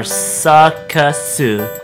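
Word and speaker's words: サーカス: In English, the word circus composes of basically 2 syllables, sir and kiss. But when we transmorgify that into the Japanese language, we have to use the Japanese sounds that resemble sir and kiss the most. And in the process of doing that, that actually changes the word into 3 syllables, in which they are sakasu.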